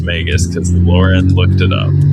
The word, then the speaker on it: Magus: that's how I know for sure that it's pronounced magus cuz Lauren looked it up.